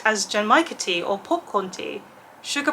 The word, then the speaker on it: genmaicha: My favourite tea is genmaicha tea, which I've now learned is pronounced genmaicha tea, and this is not genmaicha tea, but it sounds like it's going to be quite close.